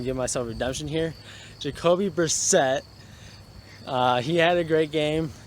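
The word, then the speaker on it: Jacoby Brissett: the last video I premiss pronounced Colts quarterback name wrong so I'm going to give myself Redemption here Jacobi Brissette he had a great game he definitely proven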